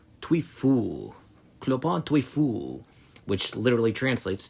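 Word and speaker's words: Trouillefou: Tweu clopon twe which literally translates to lame fearful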